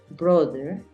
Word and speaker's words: brother: es masculino decimos brother no es usual decir brother Es mejor decir Brother brother Acuérdate que la th tiene como un cambio entonces no es brother no sino es Brother brother Después te enseño lo de la th y la hermana se